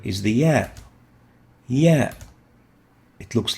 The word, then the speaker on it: ي: The next letter is the ya. Ya. It looks like this, and it is similar to the double E in English, or a Y. If it is pronounced as E, like in feel, double E, in feel,